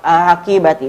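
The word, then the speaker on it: حقيبتي: Fala naqra fiha huna hakibahi. La naqra hakibahi. Bal qira'atuha madha ya tulab? Bal qira'atuha hakibati. Naqra hakibati. Limadha?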